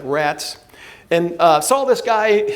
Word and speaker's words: Rates: St Peter near the town of rattes or spelled like pronounced like rats and uh saw this